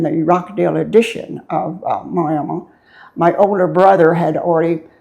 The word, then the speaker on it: Miami: of this, of what Miami, and the locals pronounce it Miami, or others say Miami, Oklahoma. I was born in uh Miami and uh grew up here.